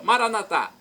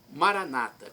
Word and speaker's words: Maranata: de Jesus eu clamo conforme dizemos nós católicos com a tônica na última sílaba Maranata ou conforme diz nós dizemos nossos irmãos separados os evangélicos ou protestantes Maranata com a tônica na penúltima sílaba não importa onde fica